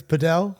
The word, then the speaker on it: padel: Mr Williams were you I said padle and he said no it's padel padel yeah have you tried